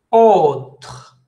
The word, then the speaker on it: autre: Une autre, autre, a-u, se prononce O. Si tiene una E antes es igual, ¿no? A U acompañado o sin la E suena O.